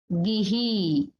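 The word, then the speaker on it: gihī: And the next is gihi, gihi. So here you will see one is short e and the last one is long e.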